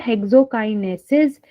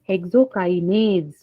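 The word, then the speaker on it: hexokinase: इट इज नॉट हेक्सोकाइनेसिस, इट इज हेक्सोकाइनेज।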